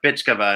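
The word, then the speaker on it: Bychkova: which is funny because it's spelled in the Russian name, BYCH. And I was like, Bike? What does that mean? And a friend of mine was like, Bitchkova. And I was like, oh, yeah.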